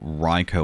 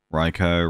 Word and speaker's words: Raikou: to begin with um oh ryker was a good one oh isn't it raiku raikou raiku alright ko because it's ou but like i still feel